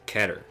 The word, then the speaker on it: Keter: so you pronounce it keter as well i've only ever pronounced it that way but apparently canonically it's meant to be pronounced ketter because that's the way that word is said oh like well but